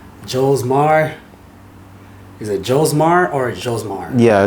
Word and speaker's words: Josmar: Is it Josmar or Josmar? yeah, it's pronounced Josmar.